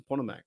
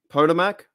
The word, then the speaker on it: Potomac: What's a Pontomac? What's that mean? What's a Pontomac? Pontomac. What's that mean? How do I pronounce that? Potomac?